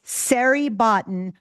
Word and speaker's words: Siri Botton: So, the way we remember how to say your name, it's Siri Botton rhymes with Larry Cotton.